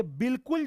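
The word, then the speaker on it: بالکل: ये बिल्कुल जो नहीं लिखा जाता है बल्कि लिखा जाता है बालिकुल, और पढ़ा जाता है बिल्कुल, यहां पर अलिफ जो है साइलेंट है, यानी अलिफ मादुला है, ये वाला भी गलत है।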